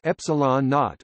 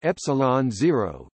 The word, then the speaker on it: ε0: physical constant epsilon zero, pronounced as epsilon naught or epsilon zero, commonly called the vacuum